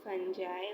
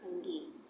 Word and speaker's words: fungi: Sometimes it's called fungi or fungi. So हमें इसको किसी भी तरह जो है पढ़ सकते हैं. कुछ लोग इसको फंजाई पढ़ते हैं, कुछ फंगी पढ़ते हैं. तो ये सिर्फ प्रोनाउंसिएशन का डिफरेंस होता है.